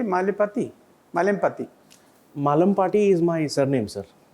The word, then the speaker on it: Malempati: yes sir malati how do you say malati malati malati is my surname sir there is a